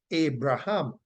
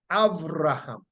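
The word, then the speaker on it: אברהם: So Abraham is not really pronounced Abraham. We pronounce in English and say Abraham, but the proper pronunciation would be Avraham, right?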